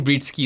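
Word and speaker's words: Breetzke: How do you pronounce this? Britsky? Yeah, I think Matthew Britsky is the way Britsky. you pronounce that.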